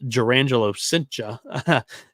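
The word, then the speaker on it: Jurrangelo Cijntje: They took Urangelo Senja, pronounced Jurangelo Cincha at the MLB draft. I don't believe Cincha's right, but we'll see.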